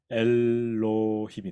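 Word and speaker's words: אלהים: 자, 발음해 보면 엘로힘이 되죠.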